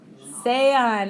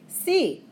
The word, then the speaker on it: sea: Inevitably, somebody says Sean, or they say si. But this is Spanish, so we want to pronounce every vowel.